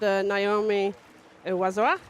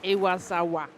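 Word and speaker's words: Iwasawa: So, next up we've got Naomi Wazawa. Ah, no. I pronounced her name wrong. Oh, no. Try again. I wasawa.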